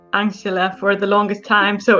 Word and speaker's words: Anxhela: million can we have the correct name it's angela it's angela angela peristerium it's like just angela